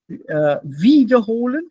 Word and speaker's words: wiederholen: A simple example would be wiederholen and wiederholen. Wiederholen, trennbar. Wiederholen, nicht trennbar. Remember, first syllable, separate. Right. Yeah, break it. If it's in the middle, the second half, then it's not separable.